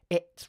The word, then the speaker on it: it's: If you have this bad habit, focus on using a glottal stop between the vowel and the consonant cluster. Let me demonstrate. It's. It's. Notice that I pause for quite a long time before I do the ts sound.